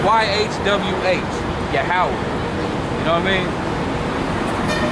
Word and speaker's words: Yahweh: And that's pronounced Yahweh.